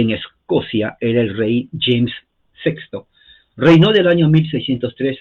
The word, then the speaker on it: James: a m e s la a se pronuncia como e la e no se pronuncia por eso se llama James y se pronuncia la